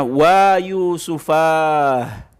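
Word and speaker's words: وا يوسفاه: Ha us-sakat, jangan dibaca huruf ha-nya dengan harokat hu, ha, atau hi, tidak. Harus dimatikan bacaannya. Jadi cara membacanya wa yusufah.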